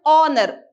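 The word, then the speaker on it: honour: But here what important is, we do not pronounce the sound of H. We pronounce it as honor.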